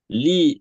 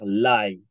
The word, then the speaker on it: Ly: nous avons un nom de famille vietnamien, L-Y, qui est aux États-Unis souvent mal prononcé, puisque aux États-Unis, quand on voit la combinaison de lettres L-Y, beaucoup Mhm. d'Américains vont dire lie.